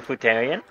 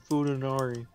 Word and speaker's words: Futanari: Are you Futarian? Am I a what? Futarian, because that's literally what a woman with a dick is. It's called Futanari.